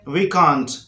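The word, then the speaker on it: viscount: उसके बाद है इसको बोलते हैं विकाउंट, विकाउंट, विकाउंट।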